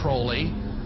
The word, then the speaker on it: Crowley: He likes to have his name pronounced Crowley to rhyme with holy.